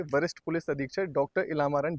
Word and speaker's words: इलामारन: ये इला मारन actually pronunciation है इला मारन, है जी, ना।